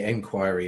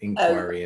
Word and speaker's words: inquiry: It would be inquiry in England, inquiry in the US.